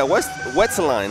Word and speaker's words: Wetselline: This guy, was it Wetselline? Yeah, Wetselline. That's how you pronounce Wetselline.